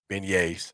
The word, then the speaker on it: beignets: And the last one, Alabama red velvet cake, Louisiana beignets. They beignets, y'all, for everybody that need to say it right. Beignets.